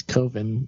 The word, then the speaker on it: Coven: this coven or koven it's koven it's not pronounced coven that sounds too much like oven I'm wearing this coven